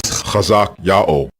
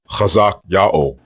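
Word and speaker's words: חזקיהו: Both forms are pronounced the same way. There are not two or three different ways to say these forms. The way you pronounce the king's name is Chazak Yao, Chazak Yao, and it means Yao is strong.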